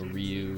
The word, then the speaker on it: Ryu: all named rayu Ryu I've always said rayu although I know Ryu is better Japanese pronunciation yeah the